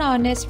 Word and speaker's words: honest: This is because these words begin with a vowel sound, as the initial consonant H is silent and is not pronounced. So the article an is used before these words like an hour, an honest man, an air.